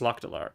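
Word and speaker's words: Lok'delar: I call it Rockdalar. It's Lokdalar.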